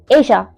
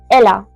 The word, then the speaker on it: ella: Then we have Asia. Asia. Asia. If you see carefully, we have the spelling that goes E L A. If I were to pronounce this in English, I would have said probably Ella.